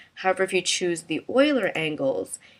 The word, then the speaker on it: Euler: And you have the choice between quaternion and I believe you pronounce it Euler angles. It looks like it's Euler, but I think the correct pronunciation is Euler. So quaternion, what it does